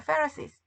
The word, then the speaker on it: Pharisees: 바리새, 페리새. F 발음 나는 거야. Pharisees.